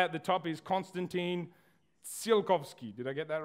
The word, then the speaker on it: Tsiolkovsky: This guy at the top is Konstantin Tsiolkovsky. Did I get that right? Yeah? Close. Okay, close is good enough. That's our motto in rocket science. So Konstantin Tsiolkovsky was the Russian father of rocketry.